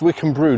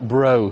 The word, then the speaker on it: Wickhambreaux: Today we are in Wikcin Brew pronounced Wikcim Brew not bro or Brocks Wikcim busy through fair